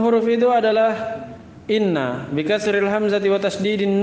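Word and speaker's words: إِنَّ: Awaluha, yang pertama dari 6 huruf itu adalah inna bi kasril hamzati wa tasdidin nuni. Cara bacanya di kasrah hamzah dan di tasdid nunnya, inna. Ya kan bisa dibaca anna, bisa dibaca an, bisa dibaca in.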